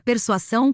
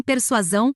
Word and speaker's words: persuasão: conceitos Morais para finalizarmos não se pronuncia A persuação com dois sons de S nem persuasão com dois sons de z e sim persuasão com som de s e z em sequência e se escreve persuação